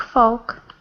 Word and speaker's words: folk: again yoke folk Yol folk that's right if you put in a little L with the folk it's okay but basically it's the long o sound okay very good okay